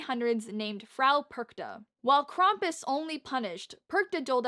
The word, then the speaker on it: Krampus: just gonna say that i've been pronouncing krampus name wrong it's krompus so for the rest